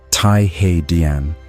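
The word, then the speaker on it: 太和: The Hall of Supreme Harmony, pronounced Thaihe is the largest building in the Forbidden City.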